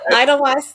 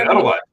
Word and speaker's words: Edelweiss: Is it the Edelweiss Lodge where you stay sometimes? Oh, the Edelweiss. Edelweiss. Edelweiss. Edelweiss. Edelweiss. Yep. Okay. And remember the W's? The W's are V's. Okay, so Edelweiss.